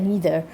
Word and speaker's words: neither: Some people pronounce this as neither, some people pronounce this as neither. So it's actually depend on your accent, but I'm used to pronouncing this as being neither.